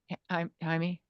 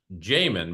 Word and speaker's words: Jaime: And what time zone are you in, Jaime? I'm You said you. no, my name is pronounced Jamin, by the way.